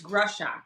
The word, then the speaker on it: Greshock: Is it Greshock? Greshock? It's Greshock. It's Greshock, actually.